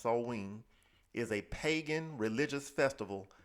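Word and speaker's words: Samhain: like Sam ha a GIC or Gaelic word pronounced soen is a pagan religious Festival originating from an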